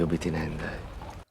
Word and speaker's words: obtinendae: One thing that stands out is he says obtinendae, and he says ob, and that syllable between is super throwing me off. Now a b in front of a th, so letter B in front of a letter T, will become a B sound, a P, that is.